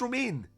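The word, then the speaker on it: Romijn: it's say r Romain is that how you pronounce Romain yeah yeah I would have had a y instead of a g language is difficult Ronin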